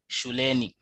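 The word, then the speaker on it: shuleni: in the road then we also have the word shule meaning uh it's school meaning school but if you attach ni it becomes a at school and it will be pronounced as shulani then escola escoleni uh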